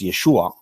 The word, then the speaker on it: Yeshua: can't be pronounced ooh according to the master retic text in this instance it's pronounced ooh it's Yeshua but notice that many